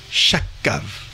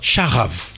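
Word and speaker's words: שכב: Le mot chakav. Non, charav. Hein, le K se prononce comme un R.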